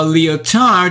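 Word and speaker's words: Lyotard: French post-modern Jean Francois leotard who said it is our business not to supply reality but to invent allusions to the conceivable which cannot be presented interesting how leotard's last name oddly rhymes with and finally in the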